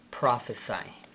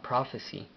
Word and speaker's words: prophesy: Ahora, la pronunciación de profetizar en inglés sería prophesy. Ahora se escucha muy muy parecido a prophecy y se escribe muy parecidamente, pero se pronuncia diferente.